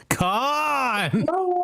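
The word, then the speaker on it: Khan: I think you're saying that wrong. It's Con.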